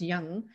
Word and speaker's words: Jung: jung we called j-u-j-u-n-g but you know it's pronounced young but carl young came